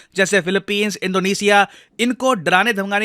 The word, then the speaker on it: Philippines: है इंडिया के लिए, फिलीपींस। इसको फिलिपाइंस नहीं प्रोनाउंस करते हैं हम, काफी बार इंडिया में हम लोग फिलिपाइंस बोल रहे होते हैं।